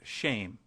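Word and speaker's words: שם: Hebrew word for name which is Shem pronounced shame we might as well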